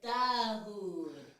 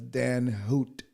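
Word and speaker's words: Dan Huot: I said Dahoud. No, it's Dan Hoot.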